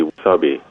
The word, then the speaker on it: wasabi: Was No, no, it's Wasabi. Well, Japanese pronunciation would be wasabi. Wasabi.